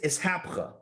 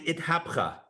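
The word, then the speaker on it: אתהפכא: One is called iskafia, and one is ishapcha. And I'm pronouncing it like a good Ashkenazi, right? These are Ashkenazic pronunciations. In the Sephardi or Ivrit Havara would probably be something like itkafia and ithapcha.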